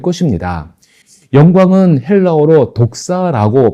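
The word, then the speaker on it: δόξα: 영광은 헬라어로 독사라고 발음됩니다.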